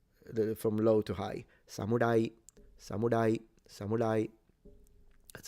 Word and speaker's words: samurai: Other Japanese pronounce it almost like an L. It's like an in between an L and an R.